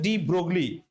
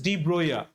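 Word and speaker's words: Broglie: electave wave there's a Danish person whose name is Drogley but he's pronounced as Droya he will give a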